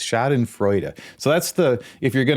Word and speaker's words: Schadenfreude: That thing that you're rightly going to want to accuse me of is actually pronounced Schadenfreude. Schadenfreude with a duh on the end. I always called it Schadenfreude, but it's Schadenfreude.